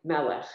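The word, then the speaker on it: מלך: Melech. Melech. That thing at the end is silent. Was that right? No? That was right. Melech.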